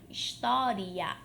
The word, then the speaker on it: história: mas colocando ali um iato no final história história e aqui nós teríamos então a classificação como a classificação como uma proparoxítona última sílaba penúltima sílaba anti penúltima sílaba seria uma